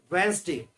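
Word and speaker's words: Wednesday: जैसे फर्स्ट है वेंसडे, तो वेंसडे में जो फर्स्ट वाला डी पड़ रहा है, स्टार्टिंग से देखेंगे 3rd नंबर पे WED, तो ये फर्स्ट वाला जो डी है ये साइलेंट रहता है। वेंसडे, डे वाला डी तो सुनाई देता है वेंसडे, तो इसमें हमने राइट हैंड साइड पर ब्लू कलर में लिखा है डी। वेंसडे में डी साइलेंट रहता है, आगे वाला पहला वाला डी।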